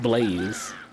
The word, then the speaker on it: Blase: Your middle name is Blase. Pronounced Blaze.